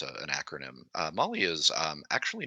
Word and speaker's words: MOLLE: So mollywebbing, and for those of you listening, that's spelled Molle. It's an acronym. Molly is actually not hard to sew.